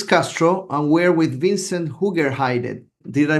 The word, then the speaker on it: Hoogerheide: I am Castro, and we're with Vincent Hoogerheide. Did I pronounce that correct, Vincent? It's pretty good. Yeah, thank you. From Utrecht University, the Netherlands. That's also correctly pronounced? No? So it would be Vincent Hoogerheide with a Okay.